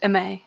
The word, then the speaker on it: Aimée: I get that right correct pronunciation for me almost it's ma ma all right awesome um